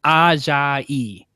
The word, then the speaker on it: Ajayi: do, that there's been so much talk of Jay Ajayi. He I learned how to pronounce it from Jeff because he did it so well. He was like Ajayi.